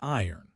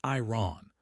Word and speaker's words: iron: It is not iron. The R is almost silent or moves to the end. It sounds like iron. Like lion but with an R iron.